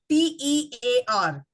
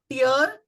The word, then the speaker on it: tear: the syllables for example t e a r which would also be tiar and which would also be tear another one w i